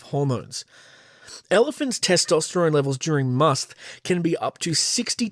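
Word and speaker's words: musth: that affects elephants called musk and I think I'm pronouncing that right it's spelled m-u-s-t-h must bull elephants periodically experience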